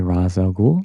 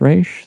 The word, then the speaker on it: Ra's al Ghul: to this day that they say Ra's al Ghul. If you watch the cartoon, it's pronounced Raish. The guy who wrote the comic and created the character wrote the animated series episode and has the pronunciation.